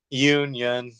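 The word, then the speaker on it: Yeun: how you say his name from Walking Dead Yun yeah yeah uh Glenn from The Walking Dead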